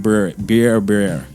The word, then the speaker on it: Berbere: I think that's pronounced Berber. It's Berbere.